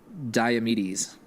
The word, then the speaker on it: Diomedes: So labor number 8, to bring back, to bring back the mares of Diomedes.